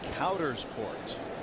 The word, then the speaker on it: Coudersport: And we've gotten the official pronunciation of what? Of that town in Pennsylvania. Okay. It's Coudersport.